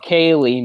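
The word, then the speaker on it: ceilidh: party or a get-together the way Kaylee is spelled is like see this is this is paraphrasing this isn't but this is the ballpark of how you spell Kaylee it's like CEI LDH so try to get Kaylee for that you know it looks like it's you or something like that but so yeah gay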